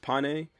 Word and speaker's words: Pain: and his support fairy pain pain I'm pretty sure it's pronounced pane but I really don't